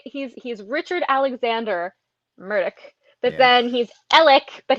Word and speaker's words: Murdoch: be so kind as to tell me which pronunciation of Murdoch you would prefer that I use so that